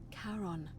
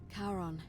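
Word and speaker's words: Charon: c h a r o n as in Caron the ferryman of the Dead karon who in exchange for the right coin helps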